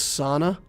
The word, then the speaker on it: Sana: Somebody told me I'm supposed to pronounce this Sana. But when I say sauna, I think of sauna, like, you know, being somewhere where there's hot, steamy water.